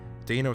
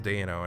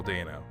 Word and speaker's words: Dano: have we been saying it wrong all these years because dana sounds right and then there were two interviews that i saw with him and then he says dayno and it's like yeah i knew it stopped saying danno it's paul dano alright so just to